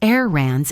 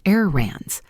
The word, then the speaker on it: errands: The word errands ends with a D's sound. Notice that I don't pronounce the first D in the word. It's not errands, it's just errands.